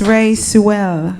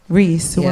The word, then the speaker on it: Ree Sewell: Miss Ray Sewell. Yeah. Did I say it correctly? Right? Ree Sewell. Yeah, like bad girl, Riri.